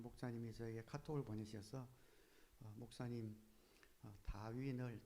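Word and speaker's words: Darwin: 번 언급했는데 한 목사님이 저에게 카톡을 보내셔서 목사님 다윈을 다윗이라고 발음하셨다고 라고 알려 주셔서요.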